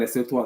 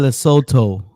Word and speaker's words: Lesotho: But it seems like the coaches, the goalkeeper, we did not beat Lesotho at home and Zimbabwe. Kuz, this is more than football. Nigeria national team cannot beat Zimbabwe and Lesotho at home.